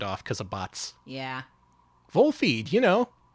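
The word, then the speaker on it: Volfied: it's pronounced wolfy yeah you look at the katakana it is pronounced vol feed catchy isn't it wool feed oh yeah we still got links turned off because of bots yeah vole feed you know like kicks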